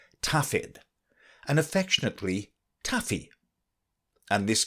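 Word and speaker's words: Dafydd: welsh folks in speaking of their good teacher pronounced his name tafid and affectionately taffy and this came to be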